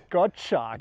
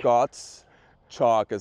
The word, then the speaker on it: Gottschalk: Gottschalk. Gottschalk, so wie Kreide, nämlich Chalk ist ja Kreide.